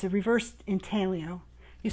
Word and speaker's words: intaglio: It's a reverse intaglio. You spell it I-N-T-A-G-L-I-O.